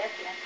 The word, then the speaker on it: Ethelyn: That's the way you pronounce it, Ethelyn. Ethelyn, you could. But it weren't not Lynn, though.